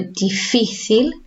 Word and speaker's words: difícil: Our emphasis goes here. So difícil, difícil.